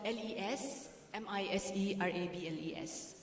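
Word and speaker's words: Les Misérables: Les Miserables, it's spelled L-E-S-M-I-S-E-R-A-B-L-E-S. It's French, but we pronounce it Les Miserables.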